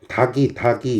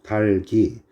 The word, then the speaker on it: 닭이: 닭이 이러시죠? 아이고. 닭이 이러시는데 이 발음은 여러분의 발음일 뿐 옳은 발음이 아닙니다. 달기입니다. 달기. 앞에 놈 그대로 두시고 뒤에 놈만 뒤로 넘기세요.